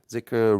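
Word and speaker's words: dhikr: a letter called da it's a d that has h behind it we don't really have it here so the closest is like th or z so sometimes you see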